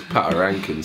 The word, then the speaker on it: Patoranking: There you go. I'm about to pronounce it. Patron. Patarankin. It's Patarankin. Patarankin. Patron. Okay, I am a patron.